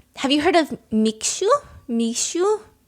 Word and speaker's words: Mixue: Mixue? M I X U E. How do you pronounce that?